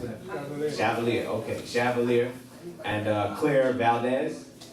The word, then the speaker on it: Chevalier: How do you pronounce it? Chevalier.